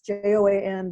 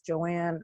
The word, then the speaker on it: Joan: time for some reason it's it's joan but they think it's joanne or joanna so i i try